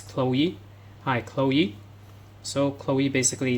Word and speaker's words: Chloe: So this is not cholo. So many people especially some pupils will pronounce as cholo. So this is Chloe.